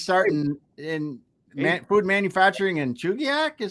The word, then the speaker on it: Chugiak: know Molly she's starting in food manufacturing and Chugiak is how you you said wow yeah that